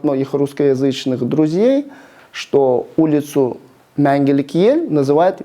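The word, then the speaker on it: Мәңгілік Ел: Потому что перевернутую букву «е» произносят как а нужно ее произносить все-таки приближенно к звуку А. И немного вытянуть вперед язык, и даже можете постараться это сделать, то есть высунув язык, и вместо А у вас будет Это будет Менгелек.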